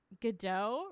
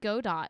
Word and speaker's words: Godot: I always said Godot, but then I read a play that had the same name and it's pronounced Godot in that. So now I don't know if it's Godot or Godot. It's Godot.